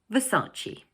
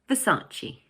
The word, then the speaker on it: Versace: But in English, we pronounce it Versace. Notice that the word has 3 syllables and the middle one is stressed. So we say Versace.